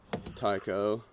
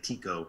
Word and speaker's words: Tycho: us pedantic types a Tico but I think there's like over Tico yeah I've heard it pronounced both ways but it's like if you say Tycho I know you're talking about I'm gonna I'm gonna